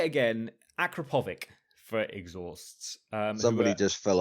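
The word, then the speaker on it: Akrapovič: But I was corrected very quickly that it's Akrapovic.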